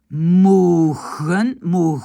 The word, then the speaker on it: mogen: Mogen, c'est un g, mais mach.